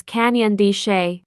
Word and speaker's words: Canyon de Chelly: today I am visiting Canyon D yes it's pronounced as Canyon D the valley at the bottom is Navajo land